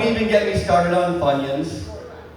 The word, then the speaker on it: Funyuns: Don't even get me started on Funyuns. It rhymes with bunions.